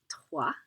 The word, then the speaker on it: trois: nasalized so it's ah the x the s aren't pronounced so we have de trois dis notice the t isn't